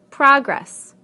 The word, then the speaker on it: progress: Progress, progress. Contract, contract. Object, object. Permit, permit. Again, we stress the first syllable in the nouns and the second syllable in the verbs.